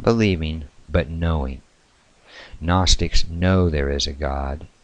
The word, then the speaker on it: gnostic: fact it is pronounced Gnostic or a gnostic with the G being silent it means nosis knowing